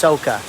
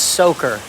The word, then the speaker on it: soaker: It's not pronounced soca. It's soaker.